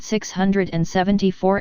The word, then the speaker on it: Sox: Sox is pronounced as 6 and is a fusion between 2 words, 6 which is 6 in German and ox for the horns.